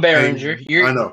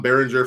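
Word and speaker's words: Berenger: Tom burger or barer from Major League I'm baringer you'll get it out baringer from m I always say it wrong but Tom Beringer from Major League Fame and Inception I forgot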